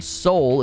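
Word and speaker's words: Seoul: foundation and it's based on a real location Soul it's spelled s-e-o-u-l Soul it's based on a real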